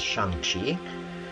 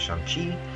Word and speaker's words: Shang-Chi: i am and um the actual pronunciation is shangchik and so i apologize and i will continue to use shanxi every time that i